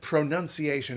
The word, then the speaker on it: pronunciation: bit of fun okay first thing why why why is it pronunciation any kid can tell you it should be pronunciation because it's pronouns right well the fun